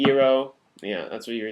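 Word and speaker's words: Iroh: cultures were pronounced wrong aang is supposed to be on iro is supposed to be ero yeah that's what you're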